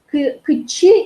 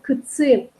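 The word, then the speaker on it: кытчи: Кычи или на севере произносят кыцы, куда?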